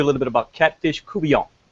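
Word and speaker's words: court-bouillon: We're going to teach you a little bit about Catfish Courtbouillon. Is how you say that. It's not Courtbouillon. That's actually a different recipe.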